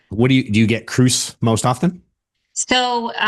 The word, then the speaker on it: Kroos: just like Tom Cruise. Kroos.